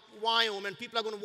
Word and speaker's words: Viome: Biome? Wyome? Biome. That's whatever you say. It's V as in Victor, I-O-M-E.